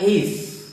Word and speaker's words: heiress: और 5वां और अंतिम वर्ड है HEIRESS, इसका उच्चारण होता है एइस।